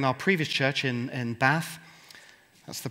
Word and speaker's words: Bath: previous Church in in bath that's the correct way of pronouncing it by the way put an r in it it becomes a Swiss Theologian um but actually when